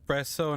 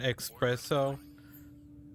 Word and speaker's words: espresso: ladders i think it's pronounced espresso not expresso don't know how you pronounce it in english honestly i just always call it expresso like uh co-worker a co-worker that always that always shrinks them corrected me as well but i'm like